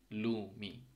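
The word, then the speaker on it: lumi: উচ্চারণ হয় সেকম উচ্চারণ এখানে একটা ফিনিশ শব্দ আছে যেরকম লুমি এল টা যে সাউন্ডটা হচ্ছে ল লুমি ল এর উচ্চারণ সেম এম টা ইংলিশ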